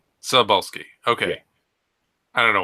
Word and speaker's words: Cebulski: shit like that, but his last name is pronounced Cebulski. Cebulski.